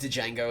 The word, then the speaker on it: Django: Because what would make you think that the D is silent? But now that we're grown up, and after watching the movie, you know that it's silent.